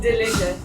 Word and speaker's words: Delute: you spell that? O-R-O-S-A-R-I. Rosari. Delute. D-E-L-U-T-E. Delute. Dilute. Exantegu. Yeah, you got it. Dilute.